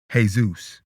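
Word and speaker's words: Jesús: To this day, the Spanish pronunciation of Jesus is Jesus.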